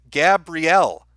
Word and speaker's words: Gabrielle: entertainment by the way you always say my name wrong it's gabrielle oh okay well gabrielle happy birthday enjoy your